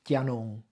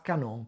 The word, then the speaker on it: canon: Che spara ballons, hanno avuto questa evoluzione, cioè non si dice chianon, ma canon, perché? Per un motivo semplice, perché il canon è arrivato dal Tresinte, quindi quando ormai la